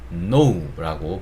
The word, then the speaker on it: know: 근데 여기서 이 K는 소리를 내지 않습니다. 이거를 뭐 전문 용어로는 묵음이라고 얘기를 하는데, 뭐 그런 용어 이름은 모르시더라도 이 K는 발음이 안 되는구나. 그래서 이 단어는 know라고 발음을 하는구나.